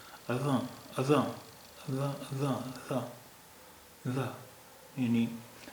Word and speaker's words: اذان: عربی کے لحاظ سے تو اس کا تلفظ اذاں، اذاں، اذاں، اذاں، اذاں، یعنی زبان کو اوپر اور نیچے دونوں دانتوں کے بیچ میں لا کر، اور جب ہم ز